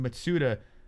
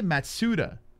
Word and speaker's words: Matsuda: here we go tateki matsuda has entered the cage over here very nice matsuda say it ma say it the way it's supposed to be said suta that's how you say it what do you think